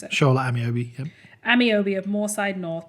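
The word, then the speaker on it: Shola Ameobi: Is that how you pronounce it? Shola Amiobi, yep.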